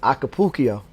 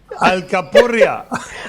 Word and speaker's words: alcapurria: had there was a dish I can't never pronounce well, Jose, which was acapulco. Right? I'm chopping it up, Al, right? Alcapurria.